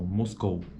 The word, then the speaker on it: Moscou: Veja que a proeminência de acentuação, a proeminência acentual é na palavra, é na vogal O. Então, Moscou.